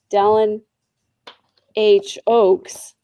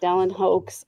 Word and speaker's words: Dallin H. Oaks: I was going to say Dallin H. Oaks, not Dallin Hoax. I said it wrong the first time.